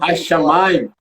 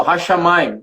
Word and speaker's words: Hashamayim: Ao falar, você não duplica. O Hashamayim não diz que é duas vezes, mas na escrita, na